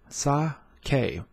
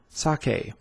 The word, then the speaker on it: sake: going to learn how to uh protons sake saw k sake you can purchase all things sake online by